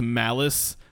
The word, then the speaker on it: Malice: His name is Malice. Kind of rhymes with phallus.